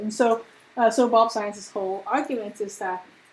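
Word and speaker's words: Zajonc: This is a very unusually spelled name because Zients is the way you're supposed to pronounce it.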